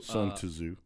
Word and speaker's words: Sun Tzu: Sun Tzu. Yeah. That's the correct pronunciation.